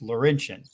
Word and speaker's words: Laurentian: you go Danny Boy Laurentian that's right every time mongrels tells me I still say it wrong it's Laurentian see that that looks like